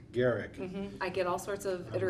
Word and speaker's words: Gerecke: Now, I'm going to pronounce your last name. Gerecke. Gerecke.